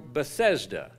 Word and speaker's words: Bethesda: there was a pool, which is called in the Hebrew Bethesda, or Bethsaida, probably is how it was pronounced over there, or closer to that. We pronounce it Bethesda.